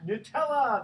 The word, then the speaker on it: Nutella: think Diana St James knows this tell us Nutella that is correct no I could say Nutella